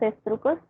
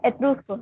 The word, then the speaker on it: etruscos: Yo quería hablar un poco de quién eran los estrucos. Estos fueron una civilización. Los tiene. Estrucos, no, etruscos, perdón. Etruscos. Se pronuncia, ok, eso, perdón.